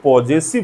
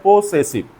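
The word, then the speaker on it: possessive: Then पॉसेसिव adjective, इसको लोग पॉजेसिव भी बोलते हैं, बट यहाँ पे हम इसको प्रोनाउंस कर रहे हैं पॉसेसिव।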